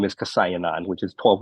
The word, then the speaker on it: Kaosayananda: My last name is Kasayananda, which is 12 letters long.